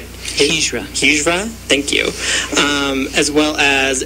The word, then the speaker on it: Hijra: There's different terms for transgender and from different cultures, such as two-spirit, and I'm not going to pronounce this right. Hijra, thank you.